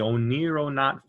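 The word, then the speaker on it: oneironaut: to use is the o nero not phenomena which is kind of hard to pronounce but oniro means greek means dream in greek and not means traveler so the o nero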